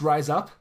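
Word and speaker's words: RIZAP: about this last week that rise up is pronounced rise up like the the the gym in yakaza 6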